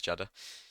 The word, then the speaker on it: Jeddah: Did I say it right this time, Durus? It is Jeddah.